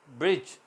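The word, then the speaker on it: bridge: नहीं करेंगे जज आएगा इस टाइम ब्रिज लिखने में बी आर आई दी जी आई है ब्रिज मगर बोलने में दी साइलेंट है गरज की ना तो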